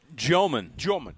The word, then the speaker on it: Demin: I've been saying Yegor Demin my entire. Yeah. What are we doing now? Yegor Joman. All right, Joman. so, Yeah, you got to get into the real pronunciation now.